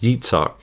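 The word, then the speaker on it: Yitzchak: In English we say Isaac, in Hebrew, it is actually pronounced Yitzak.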